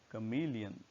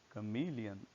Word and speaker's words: chameleon: So our first word is pronounced as chameleon, chameleon, not chameleon or chameleon. Second is wolf, wolf, not wolf.